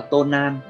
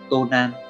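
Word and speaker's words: 盗難: Cách đọc của nó là tonan, tonan.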